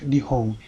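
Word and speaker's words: 日本: But if you go to the dictionary, nihong is pronounced nihong and means Japan.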